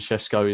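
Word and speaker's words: Šeško: Carl, I can see your comment about the way Benjamin Sesko is pronounced.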